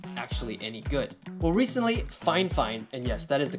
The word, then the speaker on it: Fifine: honest opinion like always my contact over at fine fine did specifically say that is how you pronounce the name of this company fine fine I don't know how this becomes this but you know that's just the way it is so this is a